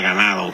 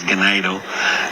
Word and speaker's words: Ganado: ganado Texas bar I always want to say ganado cuz it means uh cattle in Spanish but it's it's pronounced in in Texas gadoo and excellent pairs woo uh they brought a